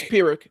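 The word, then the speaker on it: Pyrrhic: I thought it was Pirick. The way it looks like I mean P Y R. It's it's Pirick.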